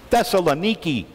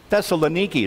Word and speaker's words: Thessaloniki: day only it's not pronounced thessalonica today it's pronounced that's Thessaloniki Thessaloniki is the same sound the same city the